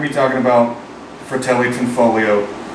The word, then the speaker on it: Tanfoglio: We're not going to be talking about Fratelli Tanfoglio or why the G is silent or any of that.